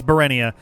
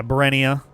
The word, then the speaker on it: Burenia: Or is it Burenia? That's Burenia. I don't think we've heard what this one's strictly pronounced yet. But the purple one, I think, is here in Ferenia. Also, thank you, Envy. Thank you, Roundhouse Kick. Yeah, Burenia. As in, Burr, it's so cold in this millennium.